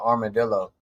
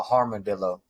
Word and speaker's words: armadillo: It's funny because I used to pronounce it wrong. Is an armadillo. Except I used to call him a harmadillo.